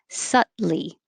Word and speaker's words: subtly: to rise a and this one is very weird because it has a b that we don't say and the t changes to a d or it just disappears so you have choices you can say it with two syllables subtly suddenly or three syllables subtly subtly nine don't say the